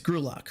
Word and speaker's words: Grock: I want to apologize it's not gerlock it's grock right uh so I apologize